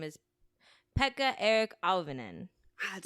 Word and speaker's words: Pekka-Eric Auvinen: it takes mice uh the shooters name is Pekka Eric Alvin and that sounds familiar it could I just looked up the pronunciation poetic Alvin and does he have one of those crazy